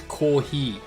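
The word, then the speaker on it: コーヒー: It's kohi. F and H are the same letter in Japanese, kind of. They're sort of pronounced similarly. So you just say ko and then he. Kohi. Oh damn, look at my first ever match as Claudio.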